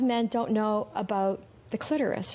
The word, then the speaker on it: clitoris: I think Jerry Seinfeld really messed a lot of people up when he did an episode rhyming it with Dolores. It's like, no, it does not rhyme with Dolores.